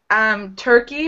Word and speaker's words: turkey: You really have to pronounce the R. Tur. That's that R sound in English, especially American English. That's very, very strong, this sound, and it's present in the word turkey.